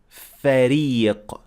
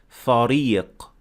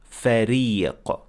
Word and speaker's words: فريق: So here we notice in the first word here that has ra that we said فريق, not فريق. That is not correct. You have to pronounce the ra as empty mouth, so you pronounce it as ra, فريق.